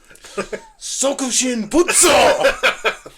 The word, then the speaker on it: Sokushinbutsu: It's called Sokushin Butsu. It probably sounds better with a Japanese accent. Can you do a little better than that? Sokushin Butsu!